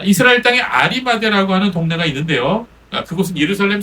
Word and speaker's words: 아리마대: 자, 헬라어 발음으로는요, 좀 다른데요. 하리마다이아, 하리마다야 이렇게 부르고 있습니다. 근데 영어나 우리나라 말로는 이 하자가 빠져갖고 아리마대 이렇게 우리가 부르고 있죠.